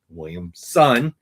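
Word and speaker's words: Williamson: So, but Joshua Williams' son has been writing Superman, Williams' son, son.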